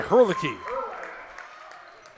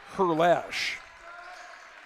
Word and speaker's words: Herlash: Shot is good by Herlihy. Actually, it's Herlash. I think I said Herlihy. I've heard it pronounced Herlihy, but it's Herlash.